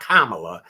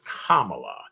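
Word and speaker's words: Kamala: to make sure I say her name correctly kamla correct kamla Harris not kamla but it's kamla Harris and our former president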